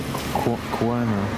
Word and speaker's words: Cuomo: You spelled it out to me, it's not spelled like that. Pasquale Cuomo, C-U-O-M-O.